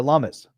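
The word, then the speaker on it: Lummis: And then you have Cynthia Lumis, rhymes with hummus.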